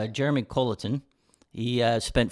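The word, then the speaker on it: Colliton: How do you pronounce his name? Jeremy Colleton.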